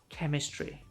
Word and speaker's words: chemistry: So if it sounds like a Greek word, ch sounds like K, for example, chaos, character chemistry.